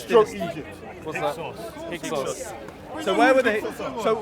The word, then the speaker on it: Hyksos: of How do I Africa pronounce this stroke dynasty? Egypt. What's that? Hyksos.